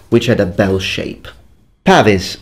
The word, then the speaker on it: pavese: Pavis, or as you actually pronounce it in Italian, pavese.